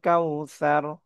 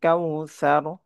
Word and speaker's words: কাউসার: ত আলিফ টেনে পব না আতনা ইনা কাল কাউসার কাল কাউসার এটা সায়ের উচ্চারণটা নরম হবে সার সার ইনাকাল কাউসারনা উচ্চারণটা